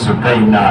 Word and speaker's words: سکینہ: کی مظلومہ بیٹی سکینہ، یہ عربی تلفظ جو ہے سکینہ ہے، اصل ان کا نام